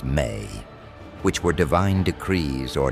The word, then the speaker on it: me: The tablets also describe something called the me pronounced may which were divine decrees or natural laws that governed all aspects of civilization.